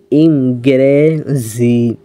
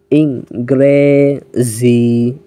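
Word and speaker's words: انگریزی: ফার্সি বাংলা ইংরেজি ইঙ্গে ইঙ্গেজি উচ্চারণটা অনেকে ভুল করেন তো এ কারণে আমি আপনাদের একটু স্লো বলে দিলাম ইঙ্গেজি ইংরেজি এরপর দেখুন লেখা রয়েছে উর্দু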